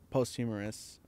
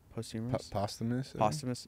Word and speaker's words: posthumous: like oh wow like uh like you know post humorous is that what it is posthumous yeah um I was like I've never known